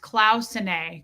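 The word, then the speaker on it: Cloisonné: Cloisonne is pronounced Clausenae.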